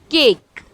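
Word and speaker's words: cake: For example केक। यहाँ पर ई last में आ रहा है जो कि साइलेंट है, बट जो मेरा वर्ड में वॉवल ए आ रहा है वो इलोंगेट हो जाता है, इसीलिए हम इसे पढ़ते हैं केक।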